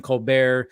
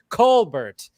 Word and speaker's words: Colbert: It was supposed to be Colbert, not Colbert.